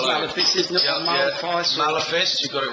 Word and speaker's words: Maleface: Maleface.